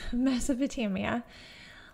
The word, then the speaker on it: Mesopotamia: And yes, watching it back over, I did not pronounce the A the first time, but yes, Mesopotamia.